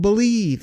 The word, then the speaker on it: BLEAV: That's called Believe, and that's spelled BLEAV in Lions, Believe in Lions with myself, and Lions legendary safety, Benny Blades.